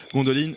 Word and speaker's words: Gondolin: Gondolin qui est, ou Gondoline, alors de nouveau la manière de prononcer, je pense que c'est Gondoline parce que là c'est de l'elfique. Gondoline a été la plus